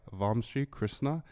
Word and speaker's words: Vamshi Krishna: comedians and today we have our guest Sai vom Krishna deaga did I say it right perfect oh